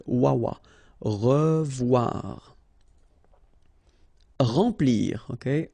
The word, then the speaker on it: remplir: Remplir. Okay, M nasal, en, remplir.